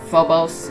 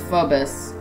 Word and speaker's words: Phobos: I'll just correct some, if not all, of the mispronounced names. Thea is Thea. Phobos is Phobus.